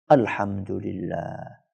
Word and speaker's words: Alhamdulillah: Banyak orang ketika membaca itu nggak sempurna. Karena pengen cepat selesai, maka dia bacanya Dulillah, Dulillah, Dulillah. Apa itu Dulillah?